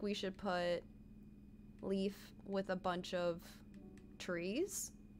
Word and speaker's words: Leif: Because there was, like, somebody told me I was pronouncing Leaf's name wrong. And I'm still confused. I'm like, isn't it Leaf? And somebody was saying it's life. I don't know. I will always say it like Leaf.